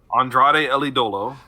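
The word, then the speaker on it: Andrade El Idolo: his name because i always mess it up andrade ellie dolo thank you because i was just going to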